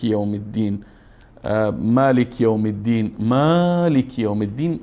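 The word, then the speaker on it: مَالِكِ: عالمین خب الحمد لله رب العالمین الرحمن الرحیم ملک یوم الدین مالک یوم الدین مالک یوم الدین خدشه هارون جان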